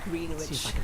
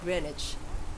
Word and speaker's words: Greenwich: out what's going on oh so you pronounce that is Greenwich and there's not far oh I thought that was pronounced Grecian fun so Greenwich good to know see this